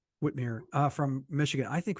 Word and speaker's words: Whitmer: would like to say like said Whitmer from Whitmire whtm it's pronounced a Whitmire uh from Michigan I